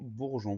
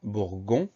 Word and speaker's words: bourgeon: On fait attention, le son J, on va l'obtenir avec un G suivi d'un E, parce que derrière on a un O, donc si on ne met pas ce E, ça ne marche pas. Donc deuxième syllabe, G-E-O-N. Si on enlève le E, ça donne bourgon, donc c'est indispensable de le mettre, c'est la seule difficulté de ce mot-là.